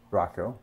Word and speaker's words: Rocco: Rocco, I should say.